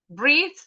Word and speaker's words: breathe: Breathe sama breath sama breath. Bath sama bath. Enggak kayaknya. Iya deh. Iya. Oke. Jadi kalau ada e-nya itu th-nya pasti voice di belakang. Breathe ada e-nya.